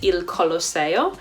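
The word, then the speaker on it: Il Colosseo: using the atone pronunciation so say for example the Colosseum is ill collar sale and the trevi fountain is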